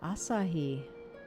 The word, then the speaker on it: Asahi: Ah, Asahi.